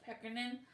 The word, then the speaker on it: Pekkanen: I think her name is pronounced Pekkanen. Pekkanen. Pekkanen. Pekkanen. There's no R in it.